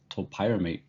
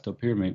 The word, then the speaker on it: topiramate: While creating this video, I came across a couple of different pronunciations for topiramate. LexiDrug pronounces it as topiramate. Make of that information what you desire, but I'll pronounce it as topiramate because that's what I'm accustomed to hearing.